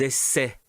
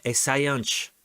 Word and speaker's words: essaient: Et F, attention, ils essaient. Ils essaient d'écrire une lettre. Ou elles essaient d'écrire une lettre. D'accord? Non, é essayante. Ou essaye. Essayante. Non. Essaie. Dois sílabas. Essaie.